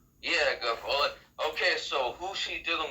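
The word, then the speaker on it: Guilfoyle: Gofole. Yeah, Gofole.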